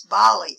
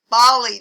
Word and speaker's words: Bali: to island hop its most popular island is ballet whoops that is bali it's pronounced bali daphne bali has the most gorgeous pristine beaches